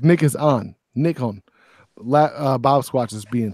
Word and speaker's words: Nikon: agree Panasonic Lumix and how do you say it nickel Nikon Nick owns it's like Nick is on Nick home bob squatches